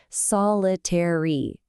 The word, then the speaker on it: solitary: Solitary.